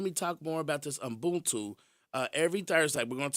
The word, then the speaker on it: Ubuntu: It's Ubuntu, Ubuntu. And it's a Zulu pronunciation, but it's a philosophy.